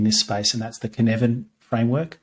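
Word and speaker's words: Cynefin: fave in in this space and that's the kinevin framework c y c-y-n-e-f-i-n hard to pronounce hard to remember but um it's guy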